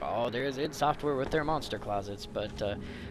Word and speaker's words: id Software: I mean, people make fun of id Software and ID Software. I pronounce it ID. I apologize. I do know that it's id Software, but I've been pronouncing it ID Software since Doom.